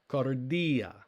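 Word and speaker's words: καρδία: a word the word meaning heart or mind cardia and so we've got kappa alpha rho delta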